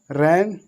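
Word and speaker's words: reign: इसको रैन, साइन, डिजाइन, डिजाइन माने पता होना चाहिए, डिजाइन माने बनावट होता है। तो देखो यहाँ पर जी जो हो रहा है, जी कैसे हो रहा है, बिल्कुल साइलेंट।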